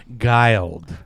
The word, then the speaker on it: Guild: Her name is Vanessa, and it is Guiled. Correct. Right? That's it's spelled it.